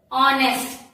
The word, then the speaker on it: honest: When we spell, it is H-O-N-E-S-T. But when we pronounce, it is honest. H is silent.